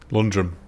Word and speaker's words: Lundgren: to pronounce his name it's a silent d there you go lundgren london london is that what you